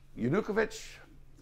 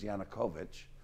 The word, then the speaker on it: Yanukovych: Yanukovych, I keep saying Yanukovych, but I've been corrected by the media. Apparently the correct pronunciation is Yanukovych.